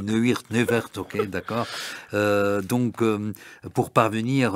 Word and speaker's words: Neuwirth: Neuwirth. Oui, moi je prononce. Moi je le prononce comme ça, mais je à l'anglais. Je lis à la française, je dis Neuwirth, ok, d'accord.